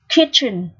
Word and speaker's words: kitchen: Từ thứ nhất này, kitchen. Kitchen là nhà bếp. Ở đây CH được phát âm là âm ch, ch nặng.